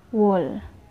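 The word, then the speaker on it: 월: So, ang months sa Korea ay wall. Wall. Ito ay wall. Or ganito siya bigkasin. Wall.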